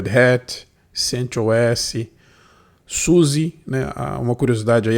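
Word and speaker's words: SUSE: exemplo é derrete sentias Suzy uma curiosidade aí a pronúncia Nativa é Susa né que a Alemanha essa distribuição Oracle Linux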